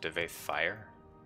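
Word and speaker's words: Divayth Fyr: It's pronounced Devaith Fire? Fire? Really? I've been pronouncing it wrong for half my life.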